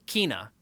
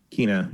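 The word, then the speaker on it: Kena: kenna actually we now know it's called you pronounce it kina kina yeah bridge of spirits um i learned through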